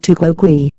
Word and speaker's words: tu quoque: answered criticism with criticism pronounced tuko GUI literally translating as you